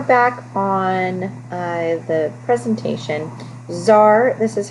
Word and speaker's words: tsar: on uh the presentation zar this is how you pronounce that word you pronounce it you don't pronounce the t so it's tsar nicholas ii takes control of the country in 1894.